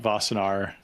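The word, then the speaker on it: Wassenaar: no i i assume that this is about vasanar um and i don't know if you've kept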